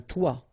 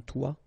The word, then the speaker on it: toit: Okay, and then both of them are pronounced like toi. Un toit, toi.